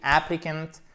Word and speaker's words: applicant: Il n'y a pas de H aspiré, mais il y a bien l'accent tonique. The applicant lacks.